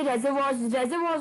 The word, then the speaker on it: reservoir: तो रेजर्वॉर की स्पेलिंग होता है RESERVOIR, रेजर्वॉर, ठीक है।